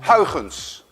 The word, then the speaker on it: Huygens: Actually, a Dutch person would pronounce it as Huygens, but you don't have the ui in your language, and you don't have the ch, let alone that you can say Huygens.